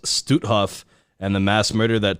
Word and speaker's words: Stutthof: this that the constant tracing camp and it's pronounced stutthof and the mass murder that took place inside